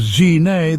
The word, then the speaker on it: Gzhignas: Pronounced as Gzhignas, the words mean dwelling in peace or simply calm abiding.